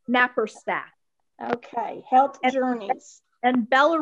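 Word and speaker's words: Naparstek: It's N like in Nancy, A, P like in Peter, A, R, S like in Sam, T like in Tom, E, K, Napperstack.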